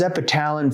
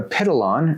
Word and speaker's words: Epitalon: Now, Epitalon or Epitalon, however you want to pronounce it, I don't mind, but I'll probably call it Epitalon. That's what I've been calling it for over a decade.